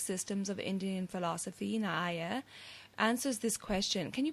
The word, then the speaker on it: Nyaya: one of the 6 systems of Indian philosophy, Nyaya, answers this question. Can you please tell us about the ancient Rishis or sages and this philosophy of Nyaya? Am I pronouncing that correct?